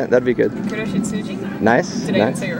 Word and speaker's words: Kuroshitsuji: Kuroshitsuji.